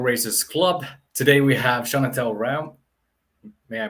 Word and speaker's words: Chonetell Reaume: club today we have shana tell ram may i pronounce that properly could you say how you pronounce your name uh it's just chantal realm awesome and today we're